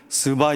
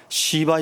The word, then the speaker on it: 스바: 뭔지 몰라요 그냥 우리는 스바 여왕 이렇게 이야기하는데 스바 여왕이라고 사람들은 잘 발음하지 않습니다 다 시바 여왕이라고 하지 스바 여왕 시바 여왕이 아니고 스바 여왕이에요 그런데 제가 설교문을 다